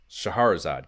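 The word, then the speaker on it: Scheherazade: counselor's corner now here we have super c yet again shadowgate codename viper the magic of shaharazad shaharazad god damn it yeah that's the right pronunciation and sure enough some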